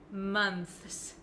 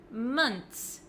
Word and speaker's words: months: I do say is months months six months months so it looks like this it looks like there's just a TS at the end I don't pronounce the h months months make sure